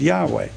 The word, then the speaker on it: Yahweh: In a footnote to Jay Glenn's article, May, June 1994, on page 53, you say, no one knows how Yahweh was YHWH was pronounced, but it is usually vocalized as Yahweh.